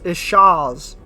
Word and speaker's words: chaise: I threw myself into the how do you pronounce that? Yeah. It's like it. Oh, it's chaise.